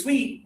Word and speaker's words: suite: Okay, so this one is sweet just like the flavor of candy.